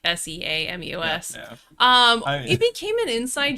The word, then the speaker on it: Seamus: You spelled shame us as shame, the word shame, and then us as in plural, and it took me a second, because I'm used to seeing how it's spelled, like Seamus.